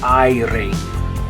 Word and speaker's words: aire: Okay, but in Spanish, it's going to be an A mixed with an E sound because you have the I right next to it. A and then E. And then the E on the end of the word in Spanish is going to make an A sound. So, aire, aire, aire.